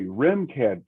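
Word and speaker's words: RMCAD: remcad remcad excuse me remcad please ma'am yeah there's an e in the pronunciation so and you call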